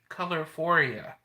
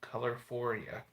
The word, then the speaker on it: Colorphoria: Colorphoria. This could be called Colorphoria. What do y'all think of that name? Colorphoria. I might forget it if. Well, I was thinking like euphoria and color put together.